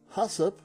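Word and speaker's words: HACCP: and free from contaminants hasip that's why we pronounce it stands for hazard analysis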